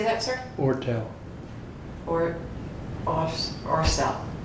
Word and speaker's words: Oertel: Ortel. Just forget about the first E and pronounce it that way. O-E-R-T-E-L without that E.